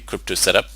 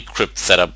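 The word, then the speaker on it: cryptsetup: crypto set into the crypto setup it's actually crypt set up but I don't know most people just pronounce it crypto set up when you type in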